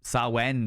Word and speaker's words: Samhain: Sawen, that's the one. Thank you very much, friends. I appreciate it. Sawen. People pronounce it differently. Yeah. Samhain Thursdays?